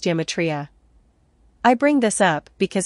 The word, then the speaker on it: gematria: The G functions like a Y in Greek, i.e. euro is pronounced euro, so gematria is pronounced geometria.